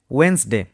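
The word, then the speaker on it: Wednesday: Next word রয়েছে ওয়েনসডে। ওয়েনসডের ক্ষেত্রে D silent.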